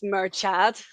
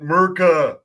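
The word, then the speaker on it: Murchadh: h a d so a lot of people mispronounce it as merad merad nice merad yeah it's like very American sounding uh guy in medieval Ireland no in America just pronounced it mura question how how do you pronounce it if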